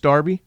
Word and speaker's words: Derby: Derby County no wait it's spelled Derby it's pronounced Derby yeah what's that about what's the deal with